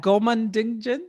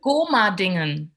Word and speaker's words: Gomadingen: Okay, how do you say that? Gomandingen? Gomadingen.